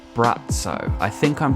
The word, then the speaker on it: Braco: this video but brat so it's written Bracco but I'm gonna say brat so because I think that is how it's pronounced and he's kind of